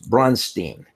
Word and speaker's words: Braunstein: I had a problem with the people who were interviewing me repeatedly being unable to pronounce Braunstein. It was Braunstein and so on. To which my response was, yes, that's Frankenstein. I finally came up with